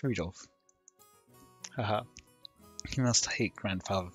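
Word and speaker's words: Rudolf: it's just that anyway this guy's name is pronounced rudolph haha he must hate grandfather for giving him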